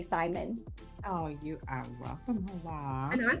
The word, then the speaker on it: Hoa: Well, my name is Hoa. It's spelled H-O-A, like Homeowners Association, but add a W-N, Hoa, like Hawaii without the E.